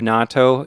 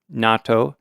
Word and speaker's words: natto: the Double T S you put the emphasis on the second syllable and yeah there's a